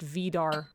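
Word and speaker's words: Vár: According to the wiki page about the Norse character just pronounced Var.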